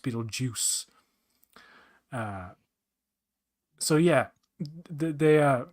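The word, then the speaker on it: Betelgeuse: then it's like oh it's Beetle ju it's pronounced Beetle Juice uh so yeah they uh they just know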